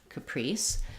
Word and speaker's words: Caprice: in Capri chess and Caprice so in the word Caprice we have second syllable stress Caprice so letters c a